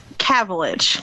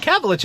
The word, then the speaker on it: Cavilich: Can you tell me how to pronounce your last name? Cavilich. Cavilich. I was saying it right. Okay, I had it right.